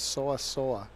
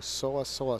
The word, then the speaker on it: Seo Seoa: you pronounce her name she says so I saw they both sounded the same to me so I told you so I saw so it's like saying so that I saw that minus a d